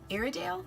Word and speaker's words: Iredale: this fan brush by Jane Eyre and Dale iredale is how you say it IRA do you